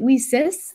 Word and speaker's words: WiCyS: and it's spelled w-i-c-y-s we pronounce it we sis like we sisters because that's exactly what